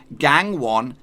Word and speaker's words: Gangwon: looks gang one FC but this is how you're actually supposed to say it yes is supposed to say gang 1 FC now I might